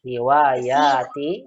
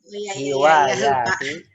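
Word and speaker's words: هوايتي: Hiwayati, salah. Ya-nya panjang. Hiwayati.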